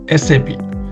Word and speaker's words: SAP: And always we have to tell SAP. Some people are telling I'm a sub consultant. Sub is not a correct pronunciation. Always we have to tell SAP SAP MM consultant.